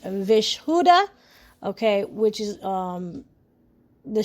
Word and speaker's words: Vishuddha: The throat chakra is pronounced vishuddha.